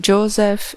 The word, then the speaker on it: Joseph: José, como o Banjocô, que os ingleses pronunciam de uma maneira diferente, colocando um F no final, do mesmo jeito que era pronunciado o PH no fim do primeiro nome do meu novo dono, Mr.